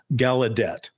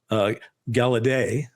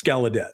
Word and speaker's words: Gallaudet: How do you pronounce his name? And he said, it's Gallaudet. Yeah, that's right. And even though he said when his family came over or whatever, it was Gallaudet, or closer to that, it's Gallaudet.